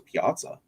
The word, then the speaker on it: Piazza: I mean, the last catcher that I want to say that hit 40 home runs was, I think it was Piazza.